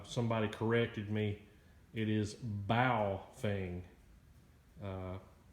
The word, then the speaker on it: Baofeng: thing wrong uh somebody corrected me it is bowfing uh not pronounced like that I was emphasizing the the